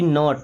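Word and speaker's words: knot: के एन ओ टी नॉट।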